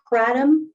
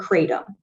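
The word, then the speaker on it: kratom: who you're talking to it's either pronounced katum or katum so katum is a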